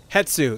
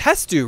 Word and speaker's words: Hestu: Hetsu. Yeah, it's Hestu, right? Because it's spelled Hestu.